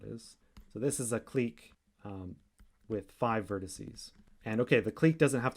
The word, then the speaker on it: clique: a graph g or some people pronounce this click but i think i prefer clique so a clique in